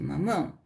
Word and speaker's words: mamão: mão aqui tem acento lembro que eu falei de mamão tem acento na mão a sílaba forte é um mão é mais Gico MA